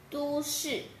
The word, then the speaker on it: 都市: Okay, this one is, I know every one of you may know this set of words, that is du. Du. Du. Du. Which is a noun. Means city. City.